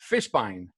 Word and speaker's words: Fishbein: co-host of the fizzle show welcome everyone Fishbein how's it going it's pretty good man